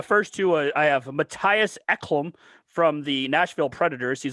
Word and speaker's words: Ekholm: So I mean, if you want to add Ekholm, again, he's been on the trade. I like how you pronounced that better.